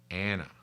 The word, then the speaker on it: Anna: Anna. That's spelled A-N-N-A in case it sounds like I'm saying Hannah, because Hannah's another wonderful, wonderful woman of the Bible.